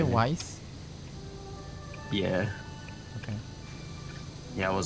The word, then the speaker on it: Weiss: It's W-I-E-S-S. They did it a German way. Yeah, so that's pronounced Weiss.